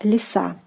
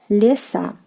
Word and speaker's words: леса: ending, and we get леса, леса, forest, forests, again the stress on the "a" ending.